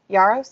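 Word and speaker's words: Yarros: Yaros, that's how you pronounce Yaros.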